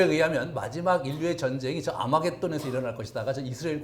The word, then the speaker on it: 아마겟돈: 우리 그 계시를 해가면 아마겟돈 으로 발음되는 데 저게 헬라어 아마겟돈 으로 발음되는 거에요 그래서 저기를 이제 그